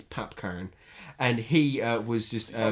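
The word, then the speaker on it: Popcaan: see a AR n I'm not saying popcorn in Jamaican accent it's PAP Cohen and he was just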